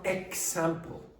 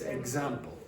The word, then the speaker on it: example: K, s, no vibration. G, z, vibration. Now, if you see a word like this, what's the pronunciation? Example. It's not example. Okay, it's example. Example.